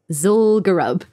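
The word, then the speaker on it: Zul'Gurub: so i had to ask matt how to pronounce the name of this new place zulgarab so grub zulgarub and uh zugerob was special because it was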